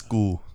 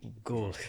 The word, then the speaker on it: Gall: It's Gall. Gall, my bad. Like bull, but with a G. Gall.